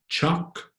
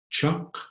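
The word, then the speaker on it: tiyak: they're coming from Sheena the middle word is the word for sure and that's Chuck Chuck and the one on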